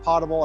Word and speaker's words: potable: me if I'm saying pable it should be pronounced potable I've heard it both ways I'm going to